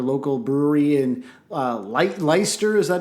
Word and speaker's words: Leicester: especially like popular local brewery and uh light leicester is that how you pronounce that i think that it is yeah